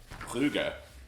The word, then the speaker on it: Brugge: Okay, so Group A, we have PSG, Man City, Brugge, which is how you say it in Flemish, but They're Belgian. to the rest of the world, Bruges.